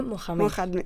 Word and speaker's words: Mohamed: Mira, has dicho muy bien esas palabras y yo te quiero corregir porque Mahoma no se dice así, se dice Mohamed.